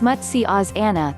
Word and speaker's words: matsyasana: spinal strength and enhances the overall body balance pronounced as much see Oz Anna the fish pose strengthens the upper back and